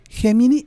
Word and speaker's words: Gemini: Gemini y es de Google oy lo se puede pronunciar en inglés.